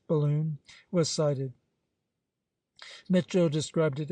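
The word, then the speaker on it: Balonne: beginning of April when the Balon pronounced balloon was cited Mitchell described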